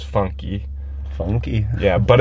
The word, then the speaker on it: funk: So, this next genre of music, it's called funk. And the way you pronounce it in Portuguese is funky.